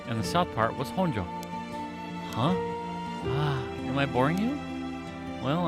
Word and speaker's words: Honjo: I guess not pronunciation would would be honjo normally Mojo is what the